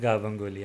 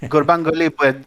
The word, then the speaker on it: Gurbanguly: He pronounced it Gabanguli. I don't remember that. Yeah, it's Gurbanguly Berdi Muhammadov.